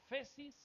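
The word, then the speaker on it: ἄφεσις: hace remisión y la la palabra remisión es la palabra griega 859 se pronuncia aesis significa Perdón libertad o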